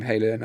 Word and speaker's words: Halen: And I kind of like phonetically like the name Halen. I think it kind of sounds like Norse and hard, Halen, you know.